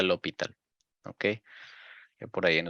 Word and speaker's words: L'Hôpital: El líder de ese partido era L'Hôpital, se pronuncia L'Hôpital, ¿ok?